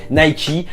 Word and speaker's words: Nike: avant parce qu'on descend c'est bien nike et non laïque mais bon on est